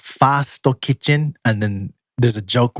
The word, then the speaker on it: First Kitchen: saying the f word it's first kitchen is pronounced Fasto kit and then there's a joke where they made